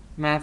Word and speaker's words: Mab: The one that you know is Mab, or Mav. Mav is the appropriate pronunciation.